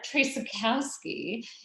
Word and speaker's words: Traczykowski: i've known her so now i'm going to pronounce it the right way lauren tracykowski is an american living in birmingham she started